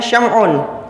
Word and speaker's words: Sam'un: Sam'un Al ghozi ini dalam bahasa Arab pengucapannya siamon dalam bahasa Ibrani atau bahasa Kitab Taurat ini stimson dan dalam Alkitab juga